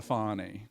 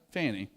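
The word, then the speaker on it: Fani: You know, and I did call her Fanny cuz where I'm from, FA I spells Fanny, you know. You can't pronounce it any other way. She won when she got on the national scene, she was like, "We'll call her Fonnie. We'll call her Fonnie." You know, no, it's Fanny.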